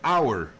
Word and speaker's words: hour: instead of uh because the word has the h but the h is silent.